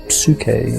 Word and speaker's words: psyche: That's something that it was given a name, and the name was psyche in Greek. Psyche is how we pronounce it now, and the word means soul.